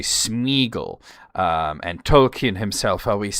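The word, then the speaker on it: Sméagol: said, "Well, you know, doesn't that mean that it should be smearable?" And uh because doesn't the accent mean that the e is its own syllable? And I said, "Well, no, that would be more of a two dots situation sort of as you see in Feyenor. Uh the Smeaggle, the accent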